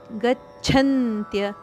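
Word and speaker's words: ಗಚ್ಛಂತ್ಯ: ವಿಸರ್ಗದ ಉಚ್ಚಾರಣೆ ರದಂತೆ ಸಂಜ್ಞೇರ್ ಗಚ್ಚಂತ್ಯ ಗಚ್ಚಂತ್ಯ ಚಕ್ಕೆ ಅಲ್ಪಪ್ರಾಣಚಕ್ಕೆ ಮಹಾಪ್ರಾಣಚದ ಒತ್ತು ಗಚ್ಚಂತ್ಯ ಮೂಡಾಫ ಮೂಡಾ ಇಲ್ಲಿ ಸಹ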